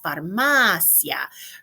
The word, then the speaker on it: farmacia: la farmacia la farmacia no accent on that ice we pronounce it la farmacia really stressing that ay el Supermercado and super